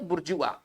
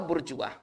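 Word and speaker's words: bourgeois: इसका देखिए ये थोड़ा सा फ्रेंच वर्ड है, इसका उच्चारण हम अलग से करेंगे, ठीक है ना।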